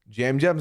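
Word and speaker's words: Yam Yam: Jam Jam's name is spelled with a Y pronounced with a J.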